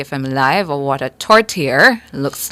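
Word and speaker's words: tourtière: you said what would it say you said tortilla yeah the ears have torer well them just a torer can we have the pronunciation again please torer torer all right yeah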